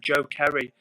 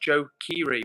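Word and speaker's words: Joe Keery: So, guys, Eva says, Edward, guys, I just died for a second when Edward said Joe Kerry. Not being mean, it's pronounced Joe Kiri.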